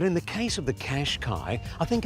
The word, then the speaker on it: Qashqai: remains absolutely clear, and that is that the Qashqai is a very, very nice all-round motor car.